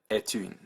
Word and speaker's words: est une: And so in that context, they will start to pronounce the previously silent consonants. And you'll get est une.